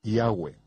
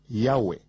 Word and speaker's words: Yahweh: Yo pronuncio su nombre Yahweh. Josefo dijo que había 4 vocales sobre la mitra del sumo sacerdote, Yod, He, Va, He, que son pronunciadas como vocales en un solo respiro, Yahweh, fluido Yahweh.